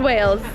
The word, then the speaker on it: Wales: We've left Wales to come to Wells. Do you even hear the difference in those two words? If I say it like this, Wells, Wales, Wells, Wales, Wells, Wales.